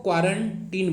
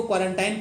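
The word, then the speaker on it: quarantine: तो इसको क्वारंटीन बोला जाता है, ठीक है। करेक्ट प्रोनाउंसिएशन क्या होगा? क्वारंटीन। यहाँ पे लिखा हुआ क्वारंटीन, तो आपसे इसको क्वारंटाइन क्वारंटाइन मत बोलिएगा, क्वारंटीन होता है।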